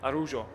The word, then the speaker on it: Araujo: Multiple ways that Daniel pronounces his name. Some call him Araujo, some call him Araujo, as you might have seen with the certain Barcelona centre-back from Uruguay. We're going to call him Araujo tonight. That's the last way he pronounced it to me, and I've kept that in my head ever since.